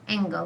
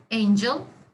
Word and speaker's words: angle: here what does mean angle this is not angel okay this is angle because the students are uh pronouncing it like angel but it's not okay angle is the